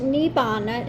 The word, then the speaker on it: nirvana: Now, nirvana is also sometimes pronounced nibbana.